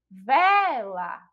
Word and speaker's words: vela: E que é justamente a última sílaba. A prova vai falar vela aqui só para a gente, né, tirar a teima aí, ó. Vela.